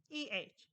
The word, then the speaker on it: eh: EH. It's pronounced A, right? It's fairly simple.